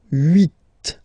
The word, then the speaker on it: huit: Then here, final T is pronounced, so huit.